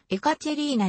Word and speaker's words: エカチェリーナ: などがあるなおエカチェリーナ 2 世と同盟であり当然正式な発音は同じくエカチェリーナであ 1744 年 3